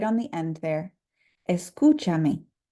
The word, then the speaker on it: escúchame: You'll notice that now the U has an accent because we need to make sure that this syllable remains emphasized, even though we've added a syllable at the end. So it is escúchame.